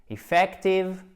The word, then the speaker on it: effective: Donc, c'est efficace, c'est effective, ok? Et efficient, c'est efficient. Accent tonique à chaque fois sur la deuxième voyelle. Ici, c'est effective et là, c'est bien un i court, efficient, ok?